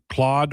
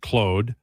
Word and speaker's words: Claude: Uh well, um I pronounce it Clode because Claude Larose was a player in the NHL when I was a kid and that's how Danny Gallivan said it.